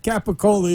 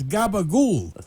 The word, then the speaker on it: capicola: know how to say it's not capicola it's gabagool and I know you